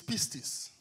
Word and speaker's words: pistis: The Greek word for belief is pistis. Le mot grec de pour croyance est Pistis, P-I-S-T-I-S. Pieces. P-I-S. Okay, just spell it because it's like red lorry, yellow lorry.